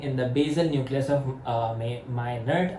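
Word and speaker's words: Meynert: the basil nucleus of my ner. I guess if I am pronouncing it correct or not I don't know but it is spelled as m e y n e r t.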